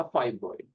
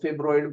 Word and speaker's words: fibroid: Imagine that all teachers would call this a फाइब्रॉइड, that is the pronunciation. तो someone who hasn't heard this word, तो वो उसको फिब्रॉइड बोलेंगे अपनी तरफ से पढ़ते हुए।